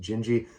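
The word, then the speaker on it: Dindi: jinji jinji is it's it's spelled d-i-n-d-i but it's pronounced jinji that's an Antonio Carlos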